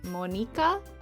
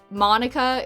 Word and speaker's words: Monika: The way to pronounce that in Japanese would be Monika, but I feel like I'm not going to be saying it like that. because it's... Monica is a... not Japanese name.